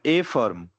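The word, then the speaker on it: affirm: ठीक है, यस नहीं बोला जाता है अफर्म, हालांकि ए का जो प्रोनाउंसिएशन है इसके कारण से रियल प्रोनाउंसिएशन होता है ए फर्म, लेकिन आप अफर्म भी बोलो, इंडिया में समझ सबको समझ में आता है।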